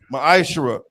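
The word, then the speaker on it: מעשר: through 10 means 10th in the hebrew it's pronounced maisha that's 10 of every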